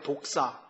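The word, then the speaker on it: δόξα: 여러분 영광 이라는 단어를 헬라어로 복사해야 독사 우리 독이 있는 뱀을 독사 라 그러죠 그럼 발음이 것같아요 복사 귀 예전에 헬라어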